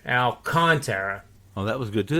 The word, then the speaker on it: Alcantara: Actually, it's AL-KON, all capitals. That would be the enunciation where you put emphasis on that. Alcantara.